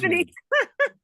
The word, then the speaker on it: Epiphanes: Epiphanes Epiphanes Yeah, good, good.